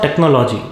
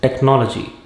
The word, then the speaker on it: technology: It is not technology, it is technology.